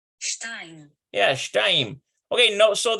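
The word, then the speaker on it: שתיים: Okay, no, so the only difference is it changes from an A sound to an S sound or an AY sound. So it's like shtem versus shtayim. And notice there's no diphthong here. This is a diphthong on the number 2. So it's like A plus I equals AI sound. So that's how we get shtayim for 2.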